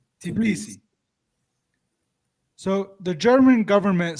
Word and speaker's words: Tbilisi: Tbilisi. Tbilisi.